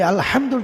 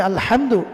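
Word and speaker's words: الحمد: কিন্তু আপনি যদি আলহামদুর জায়গায় বড় হা, এই জায়গায় যদি আপনি ছোট হা দিয়ে পড়েন আলহামদু পড়েন, অনেকে এটা করে যে উচ্চারণ করতে পারেন আলহামদুর জায়গায় আলহামদু পড়ে। অথচ আপনি যদি আলহামদু পড়েন তাহলে এটার অর্থ এসে যাবে যে সমস্ত ধ্বংস আল্লাহর জন্য।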